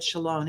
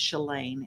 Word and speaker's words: Shalane: And by the way, I said Shalone, it's Shalane, and I'm sorry.